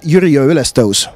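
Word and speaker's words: Jüriöö ülestõus: That is the meaning, but now is the pronunciation is Yrjö Ylestos. Yrjö? Ylestos. Yrjö Ylestos. Yes, thank you, Jeff. You have just learned Estonian. Thank you very much and see you. Yrjö Ylestos.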